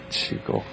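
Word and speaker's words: qigong: que son y en qué consiste este método chico pero si la pronunciación correcta es chico en realidad es un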